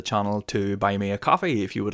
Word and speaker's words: Ko-fi: Apparently the service is called Coffee, but it's spelled Ko-Fi, and I want to call it Ko-Fi, but apparently it's just called Coffee.